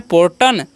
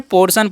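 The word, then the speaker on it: portion: हम क्या पढ़ते हैं, पोर्टन नहीं, इसे क्या पढ़ना है, पोर्शन पढ़ना है। ठीक है, तो P से तो प हो गया, O का उच्चारण O कर देंगे, और R का र हो गया। ठीक है, TIO है तो इसका उच्चारण कर देंगे स, और N से न तो हो गया पोर्शन।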